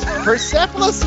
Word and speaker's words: Persepolis: seven was persepolis did I say it right persepolis yes yes it's another one of our movie